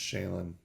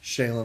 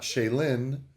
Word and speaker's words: Shaylen: And then Shaylen, my daughter, by the way, her name is pronounced Shayen like Van Halen.